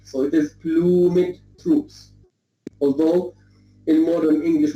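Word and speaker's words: plumèd: e so it is plummet troops although in modern english we say blue we don't pronounce that so farewell the blue mid troops and here shakespeare accented the e to have an extra syllable to have an extra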